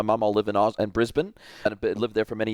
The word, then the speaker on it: Brisbane: you're definitely legit because he said Brisbane not Brisbane yeah exactly exactly and and